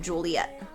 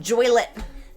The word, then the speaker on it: Joliet: And then Snip in Joliet. And Joylet, because it rhymes with toilet.